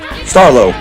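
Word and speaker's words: Starlow: Starlo, Wilde's press. The W in Starlo is silent.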